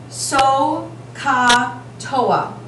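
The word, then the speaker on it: SOHCAHTOA: And we pronounce this so, ka, toa.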